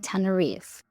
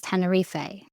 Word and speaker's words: Tenerife: Now, just to be upfront, there are two different pronunciations for this island. The British pronunciation is normally Tenerife, while the American pronunciation is Tenerife.